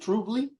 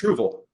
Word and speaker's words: Truval: I have here, is it Truvle? Is that the right one? Yeah. Is that how you say it? Truvle? It's Truval.